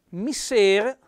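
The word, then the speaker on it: misser: attenzione a questo termine mister con due esse ma lo troviamo su qualche vocabolario che con una s con una è chiusa mister è il suocero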